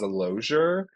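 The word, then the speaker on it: Lozier: Like, is it harder than That's harder to pronounce than mine. So, my Okay, I'll just tell you. My last name is Logo.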